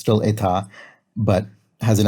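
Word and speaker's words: états: word for state and if you pluralize it you put an s on the end and it's pronounced the same it's still eta but has an s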